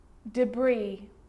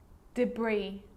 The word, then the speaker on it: debris: you've already struggled with this one island island debris debris and i'll the bride walk down the aisle